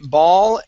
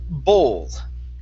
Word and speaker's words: ball: Now, I want to practice the difference between these 2 words. We're going to say ball and bowl, because when you pronounced the word, you had said bowl.